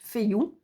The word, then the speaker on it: Féu: Donc ici, elle vous explique qu'elle se prononce Féu.